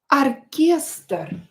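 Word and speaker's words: оркестр: The next word is uh arester. Arster. Arer. When O is not is not stressed, pronounced it as a.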